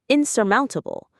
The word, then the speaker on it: insurmountable: Insurmountable. The stress is on the third syllable here.